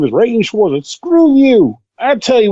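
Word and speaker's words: Rean Schwarzer: It's Rain Schwarzer. Rain, okay. I'm But I like wanna call him Rain. Like Reen. Like, your name is Reen, and that's it. No, my name is Rain Schwarzer.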